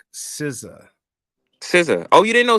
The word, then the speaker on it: SZA: Babe, that's an artist pronounced like SZA.